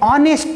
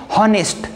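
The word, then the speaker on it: honest: है वो ऑनेस्ट है, हम ऐसा नहीं बोलते हैं हॉनेस्ट। लेकिन अगर मुझे बोलना है ही इज एन ऑनेस्ट बॉय, तो ऐसा मैं बोल सकता हूँ, क्योंकि इसका जो प्रोनाउंसिएशन है हम ओ से शुरू करते हैं और यहाँ पे हम एच का प्रोनाउंसिएशन नहीं करते हैं।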